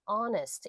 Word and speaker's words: honest: 근데 얘 요건 H가 묵음이기 때문에 honest 이렇게 발음이 되거든요.